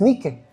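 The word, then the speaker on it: νίκη: Ahora lo dije en griego, no como usted lo pronuncia, Nike o Nike. En griego es Nike y significa victorioso.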